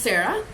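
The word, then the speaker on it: Zara: She's like, it's spelled with a Z. I was like, oh, dear God, okay. And she's like, yeah, it's Z-A-R-A. She's, but it's still pronounced Sarah.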